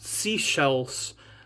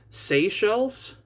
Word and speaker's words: Seychelles: Like I believe I was just corrected that it's not seashells like a seashell, it's Seychelles, something along those lines.